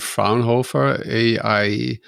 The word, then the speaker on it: Fraunhofer: You're working with Cert X and Fraunhofer IAIS. That's the correct way to pronounce it.